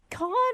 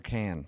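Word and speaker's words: Cannes: Can I ask is it con or is it the can film festival?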